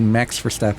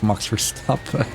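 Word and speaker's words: Verstappen: Most people would say Max for step, but no, it's Mox for stop.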